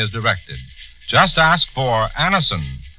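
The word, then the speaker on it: Anacin: This program is brought to you by the makers of Anison, the remarkable tablets that bring incredibly fast relief from the pains of a headache, neuritis, or neuralgia.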